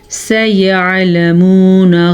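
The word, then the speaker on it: سيعلمون: سیعلمون غدا، سیعلمون. عین کے تلفظ کا دھیان رکھنا ہے. عین آپ حمزہ میں نہ لے جائے، گناہ ہوگا لفظ چینج ہو جائے گا، یعنی کہ لکھا ہوا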